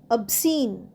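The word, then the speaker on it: obscene: ওবি এস সি এনই অবসিন। অবসিনেও সি উচ্চারণ হবে না। এসই এনইর মত উচ্চারণটা হবে শেষের দিকটা। তো অবসিন মানে হল অশোভন বা অশালীন।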